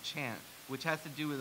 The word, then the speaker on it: Kant: he's reading called uh black Kant pronounced chant which has to do